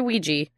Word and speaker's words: Ouija: can't go back also we say Ouija like squeegee we we yeah we